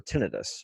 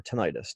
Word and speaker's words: tinnitus: in the ear, or tinnitus or tinnitus, depending how you say it, tomato, tomato. It doesn't really matter, but